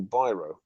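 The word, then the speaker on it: Biro: british hungarian artist val byro that's how you pronounce it byron like the pens he learned the real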